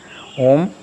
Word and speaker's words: ओम: इसमें ओ का उच्चारण जो होगा वो 85% और माँ के लिए ओंठ बंद होकर के 15% माँ का उच्चारण होगा। ओ और माँ ओम।